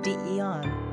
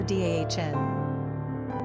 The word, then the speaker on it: Deon: Pronunciation, Dion, or Dahn.